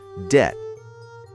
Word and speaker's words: debt: But wait, Eva, we do not say the letter b.